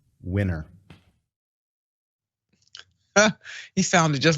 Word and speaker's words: DeSantis: pronounce my last name winner he sounded just like a little kindergartner didn't he the way to pronounce his last name is winner now this is coming